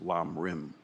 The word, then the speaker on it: Lam Rim: of the Path, or in Tibetan pronounced Lam Rim.